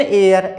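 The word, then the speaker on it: heir: देने वाला होना चाहिए, लेकिन यहाँ पर एच साइलेंट है इसलिए हम यहाँ लगाएंगे एन, an honest man, एन एयर, एच से शुरू हुआ लेकिन एच यहाँ पर साइलेंट है इसलिए एन लगा है, एन एयर।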